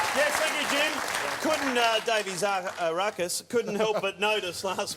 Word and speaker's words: Zaharakis: Pronounce it the way it's spelled.